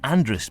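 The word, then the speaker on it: Andreas: In the north, Andrea is still being pronounced Andrus by those who want to sound Manx, even if they aren't, but not by anyone else.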